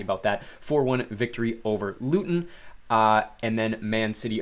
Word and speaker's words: Luton: match alongside Burnley and Luton Town I do apologize I think in previous live streams I had called them Lutton town uh it is of course pronounced Luton but Newton and Burnley